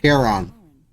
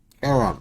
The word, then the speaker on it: Charon: Only your pronunciation is a little off. The name you heard Charon. Charon. was C-H-A-R-O-N.